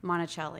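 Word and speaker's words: Monacelli: And how do you pronounce the publisher? Monticelli.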